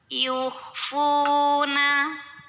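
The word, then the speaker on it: يخفون: Yukhfuna. Di sini ada hukum mad tabi'i. Karena ada waw sukun yang didahului baris dhammah. Maka cara membacanya, fa yang berbaris dhammah kita panjangkan 2 harokat saja.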